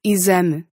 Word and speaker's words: exame: only one rule where if it shows up in between two vowels at the beginning of a word, it sounds like a Z. As in exame.